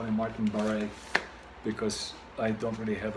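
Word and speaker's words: Barre: a r r e to me it sounds kind of like a French kind of name so I call him Martin baret because I don't really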